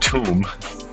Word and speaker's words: Thumb: Thumb. Oh. Immediately says, pronounced tomb.